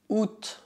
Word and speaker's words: août: Août, août. Cuidado, essa palavra não é pronunciada août, mas août, août.